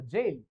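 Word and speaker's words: gaol: word आहे याचा अर्थ याच प्रोनन्सशन सुद्धा जेल असं करतात जेल जी ए ओ एल जेल म्हणजे जो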